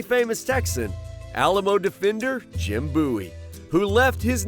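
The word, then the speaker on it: Bouie: And we say, well, wait a minute, Bowie is spelled B-O-W-I-E. Yeah. In Spanish, there is no W, so nobody can Yeah. pronounce B-O-U-I-E as Bowie.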